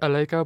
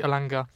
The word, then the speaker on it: Elanga: move on to Anthony ala because he's been also really alanga sorry yeah pronounce that wrong I'm very bad I pronounce the people's names Anthony alanga he's been very good